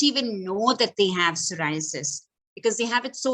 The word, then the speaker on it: psoriasis: It's called psoriasis. This is not to be mistaken for cirrhosis. A lot of people pronounce this as cirrhosis.